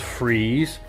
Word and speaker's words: Fries: a disability man so Victor Fries pronounced freeze is a villain from